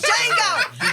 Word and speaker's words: Django: right motherfu right it's Jango the D is silent the D is silent